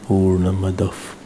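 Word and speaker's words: पूर्णमदः: When we chant Purnamada, after Purnamada there is a visarga, and if visarga is followed by pa, so visarga is not pronounced, it is pronounced as half pa. So it should be Purnamadaf Purnamidam.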